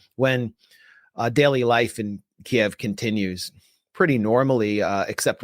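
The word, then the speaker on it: Kyiv: a subway station in Kiev, which you have to now refer to as Keev because you have to use the Ukrainian pronunciation of everything, which even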